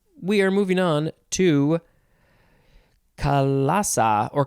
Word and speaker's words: chalaza: We are moving on to Kalasa or Kalesa. It is spelled Chalaza. Kalesa.